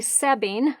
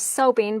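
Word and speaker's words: Soebbing: her name's stef stephanie sebbing i actually thought it was sobing but i watched one of her video posts last night it's s-o-e-b-b-i-n-g but it's pronounced sebbing and she's a young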